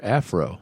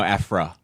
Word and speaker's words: Aphra: Afro. Yes, that's what I thought. Aphra. Like Afro Samurai? Afro? No, Aphra.